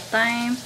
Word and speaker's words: thyme: gonna put in the thyme or thyme. It's a TH, so I don't think the H is silent, but I guess it is.